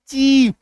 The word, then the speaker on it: chief: अभी देखिए जब IE बीच में आए, लास्ट में नहीं आए, तो ये सिर्फ और सिर्फ बड़ी इकार की मात्रा बन के रह जाएगा,